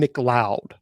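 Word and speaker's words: McLeod: His name is Jason Mloud. The Mloud is spelled ML EO D. Okay. M C L E O D.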